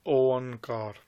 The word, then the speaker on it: Oankar: The pronunciation is Oankar. You will get some people saying instead of Ik Oankar, they'll say Ek Ankar because of the writings that they've read of Bhai Gurdas Ji.